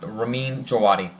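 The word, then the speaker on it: Ramin Djawadi: this show Raman jawadi I'm pretty sure I'm pronouncing that right it's duati it has a little silent V on there uh ramad Ramin jawadi who actually has done two Marvel compositions he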